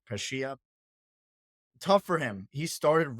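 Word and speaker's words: Pecchia: Another team down in the relegation zone, Parma, they moved on from their coach, I believe it's pronounced Pescia.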